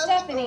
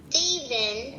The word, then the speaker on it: Stephen: Edward and Stephanie Not come Stephanie. around. Not Stephanie. There's no IE or Y at the end. It's just Edward and There Stephen you go.